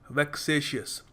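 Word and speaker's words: vexatious: देखिए अगला शब्द है वैकसेसियस प्रोनाउंस जैसे कर रहा हूं ध्यान देना वैकसेसियस वैक्सेशियस यह शब्द आता है वैक्स से।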